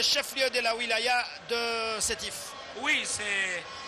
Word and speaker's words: Sétif: Alors pour prononcer parfois, ils disent sidav, c'est sétif. Mais voilà, c'est en arabe, bien entendu.